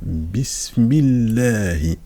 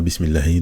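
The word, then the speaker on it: بسم الله: donc là on fait on fait la liaison directement bismillah donc ça c'est on prononce pas le même et on ne prononce non plus le Alif parce que c'est tout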